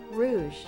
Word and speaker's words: Rouge: I think that's Rouge and not Rogue. H. Suddenly I'm getting self-confident, self-conscious. How to pronounce Rouge. Rouge. Yeah, okay. I am pronouncing that one right. Rogue is R O G U E.